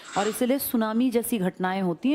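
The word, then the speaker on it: tsunami: कर रहा हूं ना सुनामी जापानी भाषा का शब्द है जिसमें टी साइलेंट लिखते हैं ऐसे बोलते लिखते हैं टी सुनामी बोलते हैं सुनामी।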